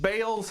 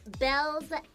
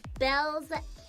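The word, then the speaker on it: Baelz: Finally, we've reached Bale's hackos.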